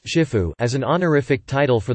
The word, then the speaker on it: Shifu: or teacher of masters, both pronounced Shifu as an honorific title